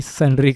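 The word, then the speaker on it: sundry: सुंदरी क्या है, मतलब सुंदरी नहीं भाई, सन्ड्री क्रेडिटर्स है।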